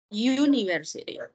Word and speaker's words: university: University. Entonces, por eso, si se fijan aquí, también lo dice, the U at the beginning of university sounds like you.